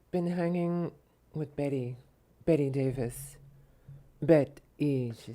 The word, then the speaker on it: Bette: Bet-E, not Betty. Just no. You don't know how to pronounce.